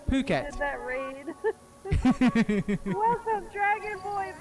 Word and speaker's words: Phuket: So it's pronounced Phuket, not the other way, as some people do see it, which causes quite a lot of confusion when yeah, not in the bad way.